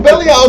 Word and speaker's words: Belial: I like to call him Belial. Belial is the right pronunciation.